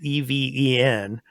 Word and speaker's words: Even: even or with a i guess that's how you pronounce that name e-v-e-n uh even and her sidekick dicey